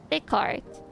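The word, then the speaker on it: Descartes: The S is silent. The The cart. The The cart. Like the car. Like a car. Car.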